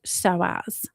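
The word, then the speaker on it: psoas: So this is all about something called the soaz muscle and it's spelled P s but pronounced soaz.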